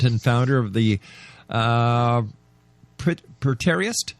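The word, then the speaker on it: Preterist: He is the president and founder of the uh Prarist, how do you say that, Don? Predtoist.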